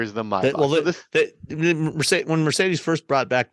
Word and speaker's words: Maybach: Yeah, Maybach exactly. mode. So, why is it why is it Maybach and not Maybach? That's the German pronunciation of it.